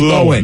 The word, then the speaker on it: Lohan: Lindsay Lohan. Is it Lohan? Lohan. Correct. It is Lohan.